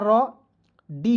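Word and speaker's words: read: तो आर का र डी का ड और इ है इ ए है तो इसका उच्चारण बड़ी ई के रूप में रीड ठीक है क्या हो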